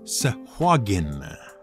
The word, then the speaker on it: Sahuagin: they were first introduced the official pronunciation of s-a-h-u-a-g-i-n was sejuagen but if you go